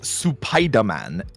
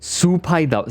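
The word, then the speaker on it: スパイダーマン: Supaida. So you actually emphasize the Su.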